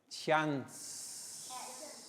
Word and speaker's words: chance: chance excellent well noticed when we do the soft sound letter c letter c sounds like s here we have c h ch but then chance so when we produce the soft sound letter c it sounds like letter s okay now what letter